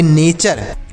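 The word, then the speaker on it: nature: next word देखते हैं एन ए टी यू आर ई तो एन से नौ लिखेंगे ए से ए की मात्रा और टी यू आर ई को चर पढ़ेंगे इसे पढ़ेंगे नेचर इसे नेचर पढ़ेंगे अब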